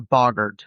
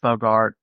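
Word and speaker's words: boggart: our next crypted is the Bogard or Bogart just depends on how you pronounce it oh yeah I've heard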